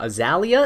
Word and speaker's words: Azallea: And that is why I also pronounce my channel name Azallea instead of Azalea, just a little differentiation there, yeah?